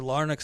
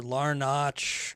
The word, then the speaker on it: Larnach: names and you know trevor larnock's the guy that i've probably called trevor larnach trevor larnick um all kinds of weird things so i just want